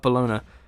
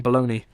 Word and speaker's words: Bologna: Pikney and his men were to parachute into the mountains around the northern Ital Italian city of Bologona. I think I pronounced that wrong. Bologna charged to sabotage those key supply routes.